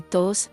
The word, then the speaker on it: todos: La I de deslizosos es como la I de amistosos, y todos se pronuncia de manera que rime con los.